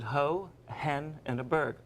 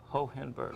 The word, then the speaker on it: Hohenberg: You pronounce it ho, hen, and a berg. Hohenberg. Hohenberg.